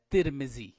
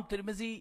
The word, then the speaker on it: ترمذی: الرحیم۔ سلسلہ القاب و اسما اور اس کے تلفظ اور اسباب و وجوہات میں سے آج جس پر بات ہوگی وہ ہے ترمذی۔ ترمذی جو لقب ہے یہ انتہائی معروف شخصیت،